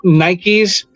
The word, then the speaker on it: Nike: a matter of fact we called them Nikes because there was no